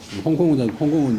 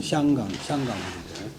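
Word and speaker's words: 香港: 저들이 이문치와 이완 등이 바야흐로 홍콩에 있고 홍콩은 이 향이 중국 홍콩 발음으로 홍콩이고 중국 발음으로 샹강인데 근데 홍콩은 강동성 경찰력이 미치는 곳이 아니라고 했다.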